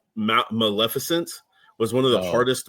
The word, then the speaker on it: Maleficent: lot of the guys either couldn't like ma Maleficent was one of the hardest ones apparently because everybody kept calling it Maleficient Mal efficiency and stuff like that I'm like Maleficent is not that hard or not there was